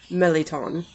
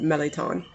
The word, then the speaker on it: mirliton: out the pronouncement is meleton which if you look at how it's spelled it's it looks like merliton m-i-r-l-i-t-o-n but the the pronunciations that i saw phonetically online look like they pronounce it melaton now it's funny because